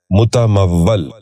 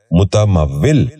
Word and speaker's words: متمول: غور سے سنیے، متردد۔ دوسرا لفظ ہے متمول۔ یہ غلط تلفظ ہے، درست تلفظ ہے متمول۔ دوبارہ سنیے، متمول۔ بچوں